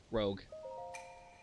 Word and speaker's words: PokeRogue: Chat, how do you pronounce that word? Is it Roog or Rogue? Pokemon. What, do you just want me to drop this rock down the hole? What's Pokerogue? Rogue. Rogue. Okay.